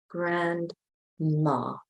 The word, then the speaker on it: grandma: Again, we don't pronounce the D, but we spell it grandma, grandma.